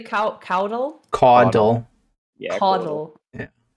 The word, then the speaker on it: caudal: In that's how we say caudal. It. You say caudal? Caudal. Yeah, caudal. Yeah. Caudal. Like caw. Waddle. Like a bird. Caudal. Okay, it's not a Boston accent. Caudal.